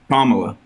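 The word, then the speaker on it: Kamala: Pommela.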